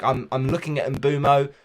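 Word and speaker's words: Mbeumo: Like I'm looking at Mbumo, or Brian Burmo, as it's apparently pronounced, for game week 14 against Luton.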